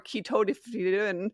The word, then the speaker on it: ketotifen: There's an antihistamine drug called ketotifen, and every patient says ketotifen or I can't even pronounce it wrong, or ketotifen, and they just, like, mumble it.